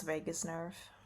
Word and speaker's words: vagus nerve: How do you pronounce vagus nerve?